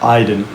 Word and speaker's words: Ayden: Arti nama saya, jadi Aiden itu sebenarnya pronounce di bahasa Kazakh Aiden.